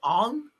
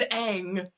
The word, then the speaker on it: Aang: Like there's this clip of people being like interviewed after the movie and the main character's name is Aang. And in the movie they were calling him Ong.